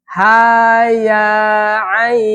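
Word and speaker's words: كهيعص: Ha ya a jadi jangan ha ya kepanjangan. Ha ya a kayak gitu PR-nya di situ ya.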